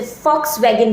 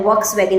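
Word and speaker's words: Volkswagen: theory दी focus yeast आप बोल तो रहे हैं बट जो स्पेलिंग है वो वी है वी ओ एल के जी ई आई एस टी बट क्योंकि वो जर्मनी का था तो जिसे फोक्सवगन बोला जाता है वोक्सवैगन नहीं बोला जाता वैसे ही फोक्सिस्ट बोला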